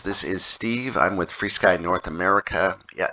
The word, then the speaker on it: FrSky: is Steve I'm with free Sky North America yeah yes it is pronounced free sky and we are going